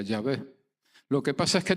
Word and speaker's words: Yahvé: Ahora bien, prácticamente todos los estudiosos modernos consideran que la pronunciación correcta es Yahvé.